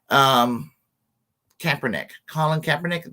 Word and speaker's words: Kaepernick: Colin Kaepernick.